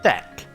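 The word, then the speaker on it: deque: the ordered collections called a deck which is spelt the que and this is effectually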